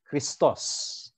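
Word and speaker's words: Χριστός: ako ng Greek yan christos okay kristos ang pagpronounce nios tapos yung ano This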